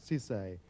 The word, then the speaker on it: Sissay: and tonight with great pleasure we welcome LEM Cisse am i pronouncing that correctly yes Cisse I'm getting it right born 21 years ago